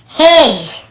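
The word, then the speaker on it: hedge: फिर देखिए हेज और वेज, यहाँ पर भी डी को हम नहीं पढ़ रहे हैं, ब्रिज, एज, हेज और वेज।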